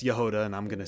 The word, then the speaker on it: Jahoda: I know now that it's Yehuda, not Jehovah, but I say Jehovah throughout this whole video because I did not know how to say her name. And um let's be honest, let's be real. You guys pronounced it, too. I'm pretty sure the majority of you out there probably said Jehod first, but here we are. It's Yoda, and I'm going to